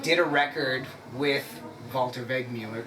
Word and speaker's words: Wegmüller: Well, are you familiar with a man from Switzerland called, I'm going to grossly mispronounce his name, Walter Wegmüller. Wegmüller, yeah, you did it very good.